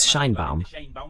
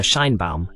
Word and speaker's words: Sheinbaum: The correct pronunciation is Sheinbaum, but well, we'll call her Scheinbaum, as they do in Mexico.